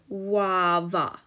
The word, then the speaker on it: guava: you can see that the graph u is actually making the sound it doesn't make the u sound or the uh sound it is making the sound so we pronounce the word guava now the letters that